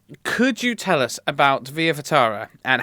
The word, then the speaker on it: Via Ferrata: So it's a tricky one, and we thought it was a good name, but it's a nightmare to spell and pronounce. So it's Via Ferrata.